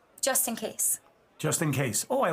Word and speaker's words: JustnKayse: that play on words Justin and caselyn just in case but it's spelled j u s t n k a y s e nice very very creative